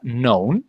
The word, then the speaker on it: known: La K es muda, entonces queda known.